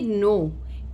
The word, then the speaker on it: know: जैसे कि नो, KNOW, नो, अगर वो यहाँ पे अपने साउंड अप्लाई करेगा क, न, ओ, डब्ल्यू का साउंड, तो वो वर्ड का प्रोनाउंसिएशन गलत हो जाएगा। इसीलिए उसे पता होना चाहिए कि KNOW जब आया है तो हमें उसे नो साउंड करना है।